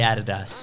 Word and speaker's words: Adidas: In Australia, we say Adidas. We do. Because it's the correct way to say it.